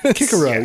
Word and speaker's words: Cicero: But then a guy like Cicero, Cicero sounds weird, so no one does that. Kikaro.